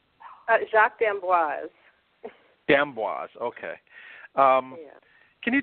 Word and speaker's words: Jacques d'Amboise: know the program was founded by ballet dancer Jacques Dubois my pronouncing the name correctly Jacques d'Amboise Dan woz okay can you tell us a